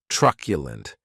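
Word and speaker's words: truculent: And this word has three syllables and the stress is on that first syllable.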